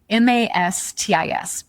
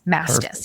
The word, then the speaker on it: Mastis: So if you just Google me, right, and my last name, it's phonetic, Mastis, Mastis. It's spelled how it sounds.